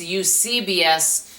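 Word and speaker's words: Eusebius: Another one, and I can pronounce it cuz he helped me. It's Ucbius church history.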